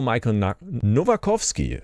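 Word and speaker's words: Michał Nowakowski: Well, it was with CEO Michael Novakovsky, that's how you pronounce it.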